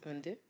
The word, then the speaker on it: Van Dyke: It's about him, Van Dyck. Van Dyke. No, Van Dyke.